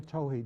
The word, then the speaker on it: Tohe: Navajo oratoro a text by Navajo poet Laura Towhee did I pronounce it that's correct yes and the images